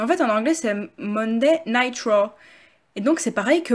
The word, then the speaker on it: Monday Night Raw: Car vous l'avez peut-être jamais remarqué, parce qu'en français souvent on prononce Monday Nitro pour la WCW, mais en fait en anglais c'est Monday Night Raw.